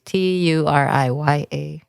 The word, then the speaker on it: Turiya: Turiya. T as in train. Yeah, exactly. With the U. Sometimes I know. I go to like number 2, but Maria, Turiya. Yeah. For people to pronounce it better.